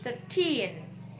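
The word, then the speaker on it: thirteen: Oh, tapi tadi intonasinya kayak lebih 13. Berarti itu 13.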